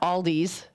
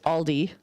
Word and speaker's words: Aldi: Because it's pronounced Dominic's with a S. Well, everybody puts like it's not Aldi's, it's Aldi, it's Meyer, not Meyers.